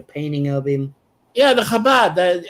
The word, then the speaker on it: Chabad: Chabad. Okay, Chabad. I don't. It's spelled CHA, but it doesn't sound like CHABAD. It's an acronym for Chochma Bina Dat, which means wisdom, understanding, and knowledge.